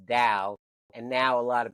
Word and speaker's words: Tao: The only reason that it's spelled with the D sometimes is because in Chinese T is pronounced D, and so the Tao is pronounced Dao.